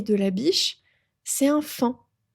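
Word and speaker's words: faon: Et le petit, le bébé du ser et de la biche, c'est un fant. Un fan. Ça s'écrit f a o fan. Ça s'écrit pharaon mais on dit fin.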